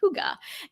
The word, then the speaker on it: hygge: denmark for some hygge that's how you say it hygge and i like to think of hygge like a like a hug actually right um i talk